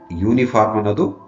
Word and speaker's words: uniform: consonant sounds cons sounds though the word uniform starts with U but when you pronounce the word uniform the sound is of Y which is a consonant uniform Y sound yes before the consonant